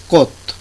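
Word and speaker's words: 꽃: একইভাবে এখানেও হচ্ছেন যে হলো সাংগিয়ক, সাংগিয়কের নিচে ভাচ্ছিম হিসেবে এখানে সিয়ত ব্যবহৃত হয়েছে, যদিও এটা কোস উচ্চারণ হওয়ার কথা, কিন্তু সিয়ত ভাচ্ছিম হওয়ার কারণে এটার সাউন্ডগুলো চেঞ্জ হয়ে উচ্চারণ হয়ে গেল তয়ের উচ্চারণ, যার কারণে এটার উচ্চারণটা হচ্ছে কত, অর্থাৎ ফুল।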